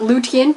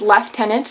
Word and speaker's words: lieutenant: actually is Kernel um left tenant not liant or Lieutenant despite the fact that Americans will be all up in arms about this it actually is left tenant that's how it said in British English um and I'm Canadian